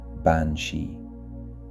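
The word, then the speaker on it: bean sí: The word bansshi comes from the Irish bani pronounced bansshi.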